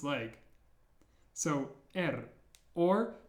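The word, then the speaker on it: Р: the last one is er ER this letter is a little bit different than the English R because it's rolled similar to how you roll your r's in Spanish for example ER if you struggle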